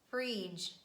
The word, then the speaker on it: fridge: is letter d and here we have a consonant digraph dg and it's followed by letter e as you remember when letter g is followed by letter e it is pronounced as the sound ju and pronouncing d and j sound together would be too much that's why we just omit letter d in pronunciation and we pronounce j sound instead and we say badge edge fridge judge bridge letter d is also silent